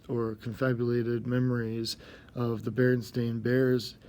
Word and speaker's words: Berenstain: sense to me because in my family we pronounced it the Berenstain Bears, but yet it was clearly spelled Stein.